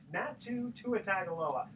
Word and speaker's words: Natu Tuatagaloa: Hello, we are in the studio here with Natu Tuatagaloa.